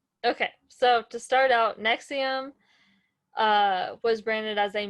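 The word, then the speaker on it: NXIVM: of no roman numerals so i was like n x i v every time you're like four right jesus um okay so to start out nexium uh was branded as a multi-level marketing company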